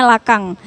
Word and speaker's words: Lacan: Nah, kebetulan tokoh yang akan kita kaji hari ini adalah Jacques Lacan, atau yang kalau pronunciation-nya biasanya dipanggil Lekong, atau ada yang mengatakannya Lakang. Ada Lakang, ada Lekong, terserah teman-teman lebih enak yang mana.